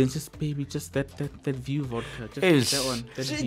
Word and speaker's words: VieuX: For all of you other stubborn individuals, it's VieuX, but it's VieuX. VieuX. Say it like a nice, sexy, you know.